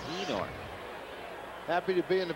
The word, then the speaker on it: Einar: he was with Cleveland, it was Einar, but he said, no, my name is pronounced Enar.